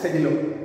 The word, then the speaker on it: Sedillo: Okay, hereafter, only for the purpose of this lesson, we shall pronounce his name only as Sedillo.